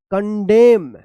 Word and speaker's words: condemn: है आप ध्यान रखिएगा, अगर एम और एन एक साथ लिखा गया है किसी भी वर्ड में तो यहाँ पे एन जो है ना ये साइलेंट रहता है और एम का उच्चारण होता है।